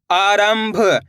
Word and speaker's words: आरंभ: आ राम अनुस्वार की मात्रा रम भ, आरंभ। इस शब्द के अंदर भी अपन ने आधा माह का उच्चारण कराए।